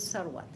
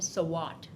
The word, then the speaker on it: Sarat: pronounce it like uh my name is Sarat okay there's an r in there people call me so what it sounds like so what so let me stand